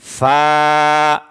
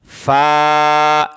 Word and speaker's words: ف: মুড়ানো উপরে এক নক্তা তার নাম কি বলেন ফা আবার বলেন ফা এই অক্ষরটার নাম কি ফা আবার বলেন ফা